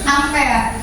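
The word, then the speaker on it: ampere: yang namanya Buat arus satuannya adalah A atau dibacanya adalah am amper alatnya disebut dengan amper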